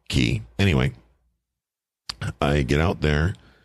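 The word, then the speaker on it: cay: like the word k k Yee but it's pronounced key anyway I get out there no problem let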